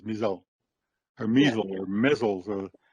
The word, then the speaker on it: Mi'sel: My name is Mizelle, and it's pronounced that way, Mizelle. It's a short spelling, but it's a longer sounding name.